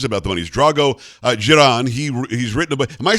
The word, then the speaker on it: Dzieran: unless it is about the money's Drago uh Jiran he he's written am I saying your name right giron yes you're saying it correctly perfect okay the